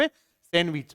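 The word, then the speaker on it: sandwich: इसमें एक litre silent है कौन सा डी साइलेंट क्या लिखते इसको सैंडविच क्या बोलेंगे इसको आप सैंडविच बोलेंगे एक और देखना इसको भी पोलाइट नहीं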